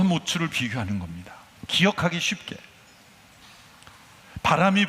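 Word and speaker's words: מוץ: 그래서 이 츠 발음으로 운율을 맞춘 거죠. 우리말이나 영어 번역에는 다 그런 것이 날아가 버리지만 이 에츠와 모츠를 비교하는 겁니다.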